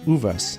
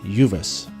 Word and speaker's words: Uvas: Spanish name for grapes since it's a Spanish word it's pronounced of us and not Uvas Hoover's Creek descends through Ava's Canyon County Park into u.s.